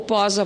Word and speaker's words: Posa: Permita-me também fazer uma saudação especial à subprocuradora-geral do Trabalho, Vera Regina Della Posa Reis, ou Posa, porque a pronúncia italiana é Posa Reis, e faço isso porque